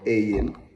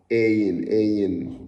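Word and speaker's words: עין: Ayin, it has a more hard, you pronounce it with like you're saying like a, you cannot compare Hebrew with English, but like you say you know, ayin and mem.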